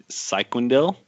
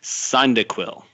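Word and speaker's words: Cyndaquil: chikorita the fire type cycling dil side nope sorry mispronunciation son dick will and then the water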